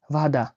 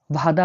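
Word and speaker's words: вода: পানিকে রাশিয়ানে রাখা হয় ভাদা। ভাদা মানে হলো পানি। ভাদা। ভাদা মানে পানি। এই যে দেখতে পাচ্ছেন বি। বি উচ্চারণ হয়ে থাকে ভি বা ভয়ের মতো।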